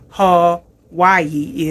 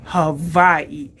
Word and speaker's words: Hawaii: the correct pronunciation of Hawaii is Hawaii. So the W has a V sound. Hawaii. Hawaii is how you're supposed to say it.